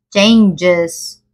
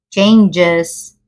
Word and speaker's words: changes: es chang sino changes la g suena como una Y changes changes sí la palabra anuncio